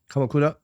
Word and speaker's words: Kamakura: One of the companies I used to work for is based out of uh if I pronounced it correctly, Kamakura, Japan. Kamakura.